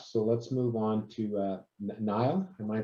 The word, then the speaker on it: Niall: So let's move on to Niall. Am I pronouncing that right?